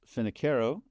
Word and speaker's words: Finocchiaro: Uh, my name is actually pronounced Finneo and I'm a strate strategic adviser and a fractional technology evangelist.